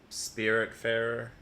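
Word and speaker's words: Spiritfarer: then i started playing spirit fairer yeah that's how you pronounce that yeah and that's like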